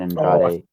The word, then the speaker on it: Andrade: Did you notice Kevin Kelly said Andrade's name wrong several times, and then said Andrade's name when he talked about Action Andretti. Andrade, yeah, he pronounced Andrade wrong every time until he had to talk about Action Andretti, and then he called him Andrade.